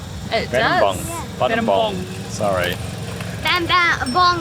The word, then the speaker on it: Battambang: Bam bam bong or bam bang. Battambang. Battambang. That's how the locals say.